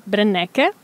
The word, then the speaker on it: Brenneke: a balconi TV Milano oggi qua con noi brennecke Benvenuto Grazie avuto un po' di tentennamento nel nella pronuncia del del nome No ma l'hai l'hai